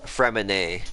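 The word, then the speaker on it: Freminet: From Annette? From Annette? Fremine. Gotcha. Because the T is silent.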